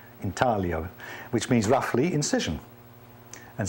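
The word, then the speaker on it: intaglio: hold the ink and it's called intio printing it's that lovely Italian word with a soft G in talo which means roughly incision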